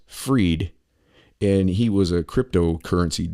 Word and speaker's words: Fried: look at the name Bank Man dash spelled fried pronounced freed and he was a